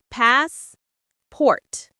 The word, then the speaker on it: passport: It's two parts. Pass. Port. Pass. Port. The stress is on the first syllable. Passport. The a sound is long like in car.